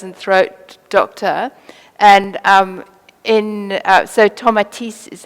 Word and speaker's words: Tomatis: So he was a French ear, nose, and throat doctor, and so Tomatis is how you pronounce it. We've sort of butchered his name a little bit, the English, so we all say tomatoes, so we'll carry on with that.